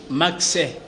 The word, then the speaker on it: Maxe: C'est pour dans la prononciation, on a toujours dit Max. Donc c'est M-A-X-E, qui veut dire mentalité d'analyse d'une production évolue.